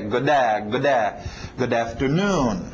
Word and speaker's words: good afternoon: Como nesse caso, então, o D bate é good afternoon.